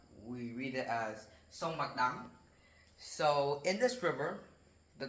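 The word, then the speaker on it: Bạch Đằng: So in southern Vietnam, there was a river called the Bạch Dong River, or Vietnamese we read it as Sông Bạch Dang.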